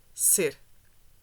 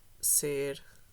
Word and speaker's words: ser: permanence, the verb is ser, not estar. The pronunciation is different in Brazilian Portuguese, and I can show it with my pronunciation. So in Portuguese, in European Portuguese, you would say ser.